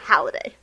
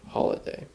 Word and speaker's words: Halliday: Yeah, Halliday. Halliday, yes. Is it yes. Mark? I knew it wasn't exactly Holiday. Yeah, it's Mark.